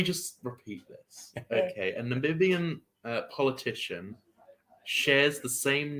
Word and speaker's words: Namibia: Namibia, whatever, how you pronounce it. Namibia is the correct pronunciation, yeah.